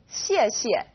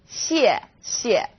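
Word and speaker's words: 谢谢: You can think of it kind of like the word she and 谢. Not too hard, right? 谢谢.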